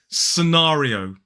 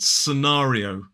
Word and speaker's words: scenario: wide sort of ahar the third syllable is R so we say the r sound and then we have e sonari scenari and then we end with that o o scenario also ends with that dip thong o which is really common in a modern British RP accent scenario scenario four syllables the stress falls on the second syllable and now it's time